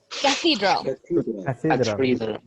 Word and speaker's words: cathedral: Oh, okay, pronunciation of this word. Cathedral. Cathedral. So we have to include a letter H over there.